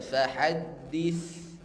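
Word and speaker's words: فحدث: Dia harus halus, enggak boleh fahaddis. Ini enggak halus ini ya. Fahaddis, dis ya, harus halus pengucapan, sa sukun di sini. Kita baca fahaddis.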